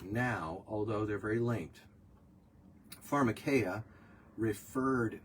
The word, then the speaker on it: Pharmakeia: Let's talk about someone got sober via LSD use, therefore Pharmakeia. Not all Pharmakeia is wrong.